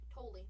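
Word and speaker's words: Tolle: I think it was Toli, right? With Jolly. No, it rhymes with guacamole. That's right. Toli.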